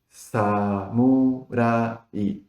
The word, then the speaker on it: samurai: Samurai. Acá la particularidad de el r o l. En español tenemos R. y L. Pero en japonés no tenemos ninguno de eso.